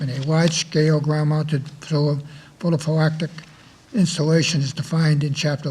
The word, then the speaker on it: photovoltaic: accept the Board of Selectmen large-scale ground-mounted solar photovoltaic facility policy. So moved. Second. Second. How do you say that? Photovoltaic.